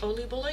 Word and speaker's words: Oliebollen: Oliebollen? Yeah, the way that you said it right now, that's perfect.